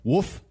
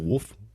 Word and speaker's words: wolf: But I do cringe when I hear the pronunciations of woof instead of wolf.